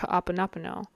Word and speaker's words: Hoʻoponopono: So when you put it all together, Ho'oponopono. And so that's how I will be pronouncing it throughout the rest of this video.